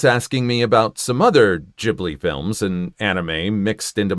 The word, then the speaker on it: Ghibli: Yes, the original word is Italian and pronounced Ghibli, but Miyazaki borrowed the word for his studio and used the Japanese pronunciation, which is Ghibli.